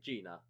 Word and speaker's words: Gina: So there's 2 spellings for her name, but it's still pronounced the same way, Gina.